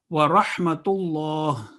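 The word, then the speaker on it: ورحمة الله: Again, lam is lam jalala, it's Allah, and it would be a thick sound. Wa rahmatullah. And ha in the middle and ha at the end are two different sounds.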